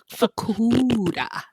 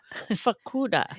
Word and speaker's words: Fukuda: Fakuda. Fakuda. It's like Barracuda.